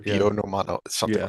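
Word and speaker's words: Buonomano: This is why you can't remember the guy's name because I don't know how to pronounce that. Dean Bonomano. Yeah, that's right. Yeah. Bionomano, something Yeah.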